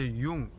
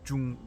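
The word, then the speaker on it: Jung: Özellikle Yung yani Cung diye yazılıyor. J U N G eee Hollandaca Yung diye okunuyor.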